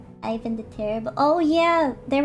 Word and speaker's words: Ivan: Case in point, well, I called him Ivan, but I guess the right way to say his name is Ivan.